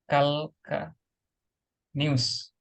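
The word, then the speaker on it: calcaneus: tadikanus ini kan tulangkanus tulisannya kan begini kalka nius Nah tapi dia dibaca eh kalkanius huruf a Terus kalau I misalnya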